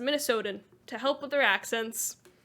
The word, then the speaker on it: Minnesotan: That's how you pronounce it. Minnesotan.